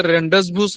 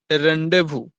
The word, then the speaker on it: rendezvous: आप इसे रेंडसवूस नहीं पढ़ेंगे, इसे आप प्रोनाउंस करेंगे, इसका प्रोनाउंसिएशन है रेंडेवू। शी कैन be bothered having a रेंडेवू with you.